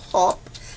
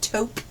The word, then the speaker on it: taupe: need to pronounce something i say top but i guess it's taupe top top top that's